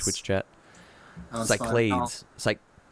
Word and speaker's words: Cyclades: Cyclades.